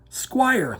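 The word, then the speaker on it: Squier: that down kids and it's spelt s-q-u-i-e-r squire like the guitar not squire like the royal squire or re no no no billy squire if you're not familiar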